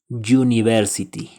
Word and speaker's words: university: una computadora a University si bien este sustantivo textualmente Inicia con una vocal cuando la pronunciamos Inicia con un sonido consonántico University Entonces lo acompaña el